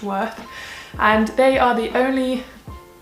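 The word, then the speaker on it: Wearth: apartment store online called worth which is w earth but pronounced worth and they are the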